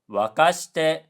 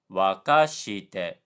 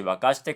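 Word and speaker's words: 沸かして: And Duolingo pronounced wakashite incorrectly because wakashite has a low high high high pitch pattern, but instead Duolingo said wakashite, low high low low, which is incorrect. So, the correct version is oyu o sukoshi wakashite kudasai.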